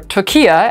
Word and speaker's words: Türkiye: will be looking at turkey or tokya as the country would apparently like to be known this week ankara asked the united nations to start using the turkish pronunciation in english communications does this country of